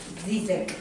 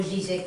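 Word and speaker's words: Žižek: parmi nous aussi, Walter Mignolo, Jacques Rancière, Vyacheslav Zizek, ou Zizek, comme différentes façons de le prononcer.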